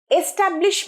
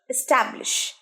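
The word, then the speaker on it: establish: স্কুলটা তোমরা ইয়ার বসাবে এস্টাবলিশ মানে প্রতিষ্ঠা হওয়া উচ্চারণটা কি হবে এস্টাবলিশ এস এ কিন্তু আমরা জোর দেবো না ট্যাবে জোড় দিচ্ছি এস্টাবলিশ নয় এস্টাবলিশ এস্টাবলিশ এস টা দেখো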